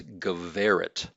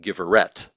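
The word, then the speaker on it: גברת: So it's going to have that V as in Victor pronunciation. So it's Geveret. Notice the accent here. So I've got an accent here over that second to last syllable. And so that makes it Geveret and not Giveret.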